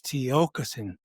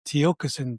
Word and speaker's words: Tiokasin: Just like I briefly interrupted you, I said it's Tiokasin, but that's still not spoken correctly. I anglicized it and said Tiokasin, but the true word